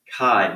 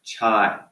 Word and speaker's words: chi: So just to clarify, chi-squared is pronounced chi, not chai. Okay, it's chi-squared. Get that in your brain now. It's not chi squared, it's chi-squared. Okay? If you're familiar with NPR, Kai Ryssdal, he's the host of Marketplace on NPR. There he is. It's pronounced as his name, Chi.